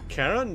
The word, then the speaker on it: Charon: Oh, Karen, that's how you pronounce it. We have a Karen. That sounds like K. Oh, no. That sounds like a Karen.